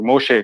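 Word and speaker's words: משה: How do you pronounce Moses in Hebrew? Moshe, correct? No problem.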